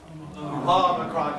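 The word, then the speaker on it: ὄμικρον: Omicron. How will you always pronounce an Omicron? Ah. Don't go O. Okay, don't go O. It's ah. So, look at that word in the Greek again.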